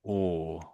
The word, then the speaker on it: awe: met someone you'll be in awe of them awe.